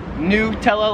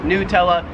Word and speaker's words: Nutella: stuff americans like me i would pronounce this nutella like it's new nutella here in australia they pronounce it nutella like a nut yeah nutella nutella number